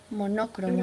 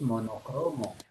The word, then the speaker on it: monocromo: Y yo voy a decir que no, que la sílaba tónica es Cro. cro, porque la palabra no es monócromo, la palabra es monocromo. Monocromo. Monocromo es la palabra. Monócromo, no, monócromo es un barbarismo, es incorrecto.